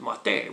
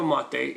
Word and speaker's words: mate: might see it written you might see an accent over the e and this is of course wrong because that would mean you'd pronounce it mate which means i killed in spanish so it's just yerba mate m-a-t-e no um no e yogurt is actually a